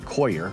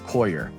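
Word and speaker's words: coir: noer or excuse me, koyer or core or qua, however you want to pronounce it. According to Google, it's koyer.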